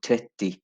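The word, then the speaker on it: trettio: थ्रेथी बोलते हैं, मतलब जैसे ओ बेसिकली साइलेंट होता है, तो थ्रेथी। लेकिन यहाँ पे कहते हैं सुना हुआ है मैंने, कुछ बहुत कम स्वीडिश लोग होते हैं जो ओ को भी प्रोनाउंस करते हैं, लेकिन ओ इतना ज़रूरी नहीं होता, तो आप थ्रेथी बोल सकते हैं।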